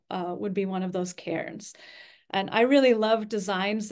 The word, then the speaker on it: Cairns: But I have an aunt whose name is Karen, and so it just helps me remember that Cairns is like Karen.